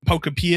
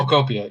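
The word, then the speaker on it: Pokopia: I didn't I'm not interested in what Poctopia. Is that how you say it? Popia.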